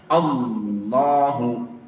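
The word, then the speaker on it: اللهُ: Allahu lamnya tebal. Bukan Allahu tapi Allah.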